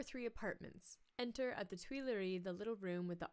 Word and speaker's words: Tuileries: Am I pronouncing that right? Yeah. Tuileries.